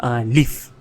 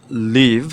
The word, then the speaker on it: Live: like this duality and the play of word uh between l i v e and l e a v e so anyway the origins of leaf is that adi wrote